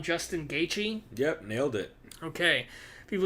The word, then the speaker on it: Gaethje: Another person I chose to listen to, the last person on this one was I'm going to say his last name wrong, Justin Gaethje.